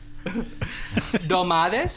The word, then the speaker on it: Dolmades: Dolmades, am I pronouncing that right?